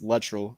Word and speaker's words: Luttrell: his last name wrong i was saying latrell he said it's literal when he said my